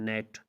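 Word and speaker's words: gnat: अगर किसी लफ्ज़ में एन से पहले जी आता है तो जी हमेशा साइलेंट होता है। एन से पहले जी आए तो जी हमेशा खामोश होता है, जिससे आप कहते हैं नेट, पिस्सो।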